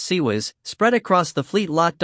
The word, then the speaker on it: CIWS: close in Weapons Systems CWS pronounced sez spread across the fleet